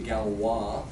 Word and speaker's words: Galois: goes back a couple hundred years ago to Galois which by the way is spelled well you got 100 always Frenchman's it